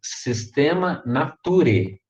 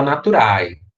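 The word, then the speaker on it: Systema Naturae: é a pronúncia dessas duas letras né mas pronunciamos o nome dessa obra comum sistema nature nature não fala naturae a gente sistema nature e o que me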